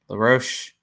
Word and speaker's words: LaRoche: LaRoche, I always get his name wrong. LaRoche, right? LaRoche. Yes.